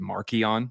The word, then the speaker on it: Marcion: Mhm, Not to mention Marcion, we call him that now, but his name back then was actually pronounced Markion with the hard yeah.